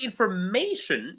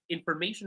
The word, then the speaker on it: information: In the word information, you will notice that may, it's louder. I've learned some new information today. I've learned some new information today. You say mation is more prominent. But if we say it in French, all the syllables in the word information have the same level. Information. Information. It's the same. But information in English, may it's louder, right?